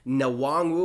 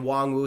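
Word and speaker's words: Nwangwu: say his last name i don't think you pronounce the n we'll get it right p.a uh was saying wong wu so we'll say that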